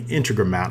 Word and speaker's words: Integromat: It's hard to pronounce for me. Integromat, I guess that's how you call it.